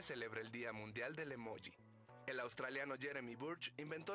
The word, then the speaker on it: emoji: Esto quiere decir escribir emoji con J y pronunciarlo por tanto emoji, porque esa es la pronunciación que en principio le corresponde en español a esa grafía.